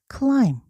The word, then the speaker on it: climb: 여기서 I는 그대로 I로 나왔고 B는 발음이 안 나요. 무음이에요. 그래서 소리 안 나서 clim B까지는 쓰지만 clim 그런데 여기다가 사람을 나타내는이